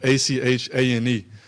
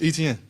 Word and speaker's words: Etienne: So growing up, it's Travis Achane. So it'd be like Achane. And that's how you always said Travis Achane. But when I went to college, I kept telling them my name like every day. And like after like 4 weeks, they just couldn't get it. So I'm like, man, it's Etienne. Like how you see it is how you say it.